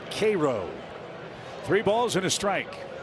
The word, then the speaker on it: Cairo: Spelled like the city in Egypt, but pronounced Cairo.